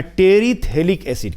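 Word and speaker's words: terephthalic acid: एसिड क्या है बच्चों नाम है इसका तेरी साइलेंट होता है वैसे हिंदी में लिख दे रहा हूं तेरी थक एसिड तेरी यहां स साइलेंट है ठीक है लेकिन उसको रीड आउट नहीं करते हम लोग तेरी थैली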